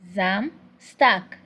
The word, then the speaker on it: Samstag: The S is pronounced in form of Z.